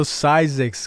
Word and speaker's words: Zzyzx: i've been calling it six this is without doing any research beforehand and certainly we get a little surprised so sizex california which is the proper way to say it so xyz formally soda